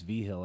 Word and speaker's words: Vigil: Vigil? No, that's pretty much my family up in Washington. It's V-Hill everywhere else.